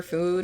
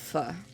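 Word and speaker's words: pho: Don't know if you want to order food or warm up your fur for dinner. I've never actually had fu cuz I'm pretty sure it's pronounced fu and not fo.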